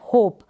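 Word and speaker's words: hope: देंगे, रीड कर देंगे, लेकिन ई का प्रोनाउंसिएशन नहीं होगा, और इससे पहले जो लेटर होगा उसका जो प्रोनाउंसिएशन होगा वो लंबा लॉन्ग प्रोनाउंसिएशन होगा। ये है होप।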